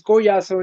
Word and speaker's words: Collazo: Well, Spanish is Collazo, and English is Collazo, yeah.